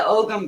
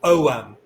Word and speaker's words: Ogham: with the pronunciation um the g is silent like a garden gnome so forget the G it's just om okay thank so bit